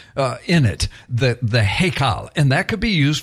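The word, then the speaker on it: היכל: one of them is heal and you could I'm just phonetically h y k a l if you will heal all right that word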